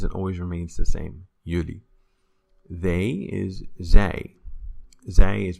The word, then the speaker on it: jullie: You plural is jullie. Jullie. That word always never changes and always remains the same. Jullie.